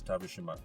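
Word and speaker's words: Tavershima: my name and so my name is spelled t a v e r s h i m a that's tavish Shima and then AED is a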